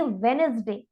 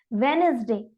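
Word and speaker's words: Wednesday: next word of दी यहां पर silent रहने वाला है इसीलिए हम इस रीड करेंगे वेडनेसडे अब फिर आप देखिए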